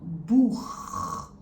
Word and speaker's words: Buch: It is called Buch. Buch. Buch means book. So as you can tell, it's a little bit deeper and more rough. So that's why we call it the harsh CH sound.